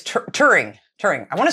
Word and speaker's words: Turing: Alan, I'm going to say his name wrong. It's Turing.